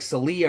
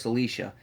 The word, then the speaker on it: Czlicia: And he couldn't remember how to spell it. And he's like, "Your name's like Celia or something like that." And she goes, "Celicia."